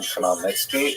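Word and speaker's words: Khmelnytsky: It's actually pronounced Nitski with a guttural at the beginning.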